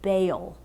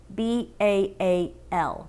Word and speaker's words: Baal: this other god named baal b-a-a-l baal i think that's how you pronounce it does that seem right